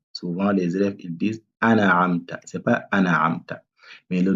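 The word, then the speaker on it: أَنْعَمْتَ: Là aussi, souvent les élèves ils disent an'amta. C'est pas an'amta. Mais le noun, il faut bien prononcer le noun.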